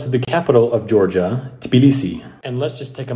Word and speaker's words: Tbilisi: river that runs through the capital of georgia tbilisi and let's just take a moment to appreciate